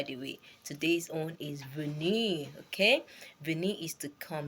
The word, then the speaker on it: venir: so that's by the way today's own is vene okay vene is to come let me spell v v is spelled v e n i r okay you